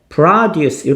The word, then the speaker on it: produce: 아 , 여기서 는 "produce" 라고 발음 해야 합니다 .